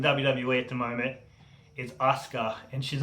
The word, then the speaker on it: Asuka: So number 6, the best female wrestler in WWE at the moment is Asuka, and she's not getting any opportunities at all. So Asuka, some people pronounce it Oscar.